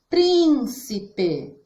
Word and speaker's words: príncipe: Por exemplo, príncipe. São 3 sílabas, mas a sílaba prim nós falamos mais forte.